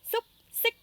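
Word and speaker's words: xúc xích: Après saucisse, nous avons soup, sic. Accent qui monte partout. Soup, sic. UC se prononce oup, oup. Et ICH, c'est ic, comme un ic. Ic. Soup, sic.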